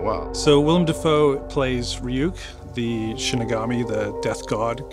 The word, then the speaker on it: Ryuk: It's pronounced Ryuk. Ryuk.